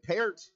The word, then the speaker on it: Peart: And that one swallowed up by number 74, Nevin Peart. Or Pert is how the public address pronounced it, so I'll go with his pronunciation.